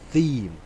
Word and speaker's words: theme: I'm sorry, theme is the correct pronunciation. Before, you know, because there is no team in Team Matolcsi.